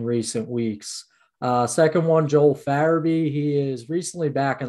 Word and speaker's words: Farabee: Farabee, yeah.